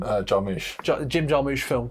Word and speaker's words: Jarmusch: It's incredibly similar to a Jim Jarmusch, is that how you say his name? Jarmusch.